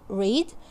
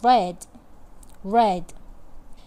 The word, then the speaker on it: read: We have similar spelling but different pronunciation. In the present we say read, and in the past we say I read.